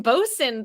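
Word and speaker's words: boatswain: sin or boson rather in bosun the T and the W are somehow silent uh coxin Boson 67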